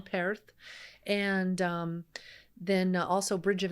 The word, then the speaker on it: Perth: There's contests at it's at Perth, but it's Perth. You got to say it right. If you're over there, don't say it wrong. Perth.